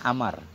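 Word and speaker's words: عمرو: selalu pakai wow kenapa kalau Umar tulisannya Im mim ra ada wau berarti bacanya Amar kalau enggak ada wau bacanya Umar kalau umaru giru munsarif kalau amrun munsarif pakai tanwin wauya enggak dihitung hanya untuk pembeda saja wau farqah Suma Sara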